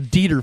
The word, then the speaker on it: Dieter: But a Dieter did get in. but there is a Dieter family, just a Dieter family. No E, no IE. It's just DEE. Yeah. TER, the Dieter family.